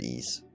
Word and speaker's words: Ys: But anyway, yes, pointed out, it is spelled YS, but it just said Ease.